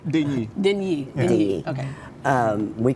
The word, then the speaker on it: Deigni: Pronounce it for us correctly. Deigni. Deigni.